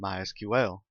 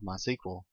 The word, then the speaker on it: MySQL: First, a quick aside about pronunciation. As you can tell, I've been calling it MySQL. That is the correct pronunciation. However, it is also commonly called MySQL. If you hear it called that, don't be confused. It's the same thing.